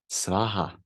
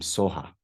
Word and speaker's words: svaha: So like that, svaha then became soha.